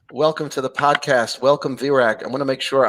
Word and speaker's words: Virag: Welcome, Virag. I want to make sure I'm pronouncing your name correctly. Did I say it right? You really nailed it. Yes, Virag.